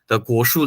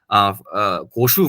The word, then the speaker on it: Guoshu: He was actually the Guoshu Lei Tai champion in 2015 of his weight class. Guoshu, for those of you that don't know, is more of the traditional side.